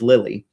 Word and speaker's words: Lilidh: Like, for example, my daughter's name is Lily, but we spell it the Gaelic way. So that's Lilidh. Not a lot of people can figure out that means Lily.